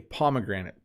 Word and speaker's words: pomegranate: So pomegranate, when I first saw this word when I was a kid, I said it completely wrong, but we say pomegranate.